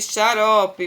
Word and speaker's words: xarope: Conheça algumas palavras onde o X tem som de CH, por exemplo, xícara, né? Shampoo, luxo, abacaxi, xarope, baixo, vai ter som de CH, mas se escreve com X, né?